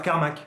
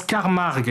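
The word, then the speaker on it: Carmack: Et ils arrivent à mettre la main sur le professeur Carmac. Non, ça se prononce Carmarg qui s'arrache une oreille et qui devient extrêmement bizarre.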